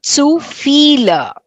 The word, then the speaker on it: viele: It's Viele. B is pronounced as F, isn't it? So zu viele.